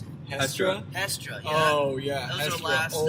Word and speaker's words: Hestra: Is that how you pronounce it? Hestra. Hestra, yeah.